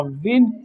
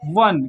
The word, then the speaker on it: won: pronunciation होता है अ विन वन क्या होता है इसका प्रोनंसिएशन होता है वन जैसे कि आप पढ़ते हो सन जैसे आप पढ़ते हैं सन वैसे ही पढ़ते हैं डब्लू ओ एन को